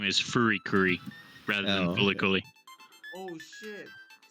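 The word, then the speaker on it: FuriCuri: the actual name is fury curry rather than politically oh so it's oh wait because the japanese can't pronounce l yeah because they don't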